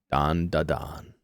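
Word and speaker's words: Dandadan: in to Don D Don Don D Don don da don and I'm saying it right this time or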